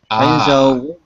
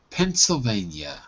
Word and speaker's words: Pennsylvania: Pennsylvania. Pennsylvania. Vein. Pennsylvania. Oh. Yep, that's it. So it looks like van, but it's not pronounced the way it's written. It's vein.